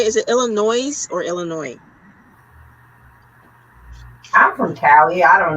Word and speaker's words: Illinois: I don't say it with the S, but that doesn't mean that I'm saying it right.